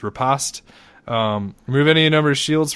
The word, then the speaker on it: Riposte: We also have Riposte or Riposte. Someone sent us the accurate way of pronouncing that word, and I always throughout my life thought it was Riposte, but I apologize. So I guess it's Riposte.